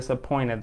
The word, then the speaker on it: disappointed: اوكي فبالتالي بندروب t هنا عشان قبلها n فتسهيلة للنطق، فبنقول disappointed على طول.